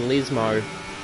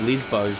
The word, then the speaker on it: Lesmo: So here's Daniel Vale, our championship points leader, heading through the second Lesmo. Oh, I said it right for the first time. I usually slip it out calling it the two Lesbos, but either way, heading into Ascari, let's see how Daniel approaches Ascari.